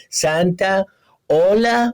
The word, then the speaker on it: Santaolalla: i tried to explain i said listen it's like santa santa monica sana you know santana santa hola hola hola santa you know it's an excellent